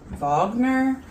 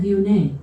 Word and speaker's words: Viognier: Viognier? Yep. Is that how you pronounce that?